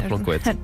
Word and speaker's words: Plancoët: Excellente eau minérale à Plancoëtte.